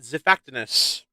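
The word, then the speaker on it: Xiphactinus: the Bulldog fish zifactinus what was that pronunciation I always pronounce it zifactinus like Nigel Marvin oh like they kind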